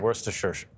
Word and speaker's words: Worcestershire: And honestly, I get haunted by Worcestershire sauce forever. For the record, how do you pronounce it?